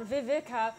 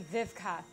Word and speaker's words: Vivka: It's not Vivika or Vidka. My name is actually Vivka.